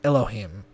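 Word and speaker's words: אלהים: in context for example Hebrew letters is usually spelled and pronounced Elohim five letters are reduced to three syllables enchanting this name five letters get five syllables ELO hey M Hebrew is written right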